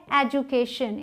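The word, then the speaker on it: education: अगला है एजुकेशन। इसे जू, इस DU को जू प्रोनाउंस करेंगे, ज।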